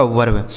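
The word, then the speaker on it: verb: ठीक है, VERV, तो वी से व हो गया, ई का उच्चारण अ, आर से र और बी से ब हो गया, यह लिखा गया आपका वर्ब। ठीक है, इसे पढ़ा जाएगा दोस्तों वर्ब।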